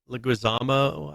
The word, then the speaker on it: Leguizamo: So the original Mario movie was Mario was played by was John Leguizamo, I think it is. Yeah, pronounced like that.